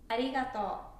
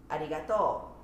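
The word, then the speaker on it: ありがとう: i bet you know arigato that's tokyo way osaka way is arigato yeah if you spell it out it's exactly same but it's just an inclination that it makes a lot of difference and the other word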